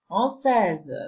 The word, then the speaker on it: français: The one which you already know, that the final letter is never pronounced. So this is why the S is crossed out. The combination of letters A and I is pronounced as E, as A. And this C with the hook, or as it's called in French, c'est-dire, it's always pronounced as S.